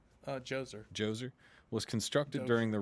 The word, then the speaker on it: Djoser: Is it Dozer or Djoser? Djoser.